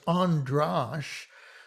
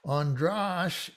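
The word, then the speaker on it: András: but androsh is and it illustrates the difference in the sound of an a without an accent versus an a with an accent so it's andrash so ah is the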